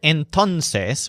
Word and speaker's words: entonces: says it's five o'clock the word entonces with a stress on tone means then the Baker has